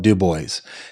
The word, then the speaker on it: DuBois: There's a town in Pennsylvania that is spelled Dubois, and people around here call it Dubois.